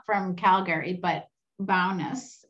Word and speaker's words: Bowness: not from calgary but bowness is that how i pronounce the promise bonus bonus oh excuse me is